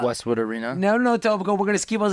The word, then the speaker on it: Etobicoke: No, Etobicoke.